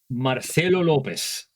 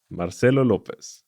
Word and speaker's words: Marcelo Lopez: Uh, I am Marcelo Lopez. Marcelo Lopez. That is that is the full pronunciation of of my name.